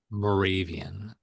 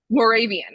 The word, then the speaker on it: Moravian: Moravian. Moravian.